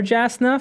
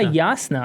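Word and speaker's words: Jasnah: I did call her Jasna for a couple of chapters and then I spoke to you and you were like, "Oh yeah, Yasna or Yasna." I've been saying Yasna. Yeah, Yasna. Yasna. Yasna. Same same thing. It just is the soft J. Yes, exactly. The soft. It's a y y.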